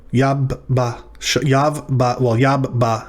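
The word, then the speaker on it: יַבָּשָׁה: So this is the syllable yav, followed by ba, and then we've got sha. Yab ba sha.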